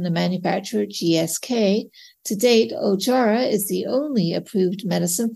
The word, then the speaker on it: Ojjaara: first up this week the FDA has approved ojara that's spelled o j j a a r a also known as Moma lot nib for the treatment of intermediate or high-risk myelofibrosis in adults with anemia ajara is a once a day oral Jack one